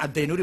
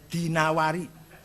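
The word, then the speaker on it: al-Dinawari: Wasias Ibnu Qutaibah Addinawari jangan addinuri bacanya ya dinawari jangan addinuri enggak ada kota Dainur ada dinawar Dinawari heeh al-asma enggak ada Asmui Asma Azzabidi bukan Zubaid Zabid apalagi jadi silakan baca ini.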